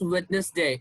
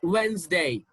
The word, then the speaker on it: Wednesday: this one is not badness day it's not witness day it's wednesday when's one is not bowel bone bone okay this is how we pronounce this word now look at these three